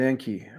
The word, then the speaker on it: Enki: Um I keep Enki and Enlil straight because Enki rhymes with stinky.